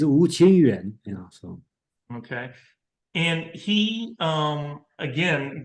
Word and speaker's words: Wu Qingyuan: yeah, Wu Qing, I believe it's Wu Qingyuan, so.